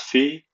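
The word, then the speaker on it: fille: you could say you would say fee f-i-l-l-e pronounce fee woman would be Fem notice the uh Accent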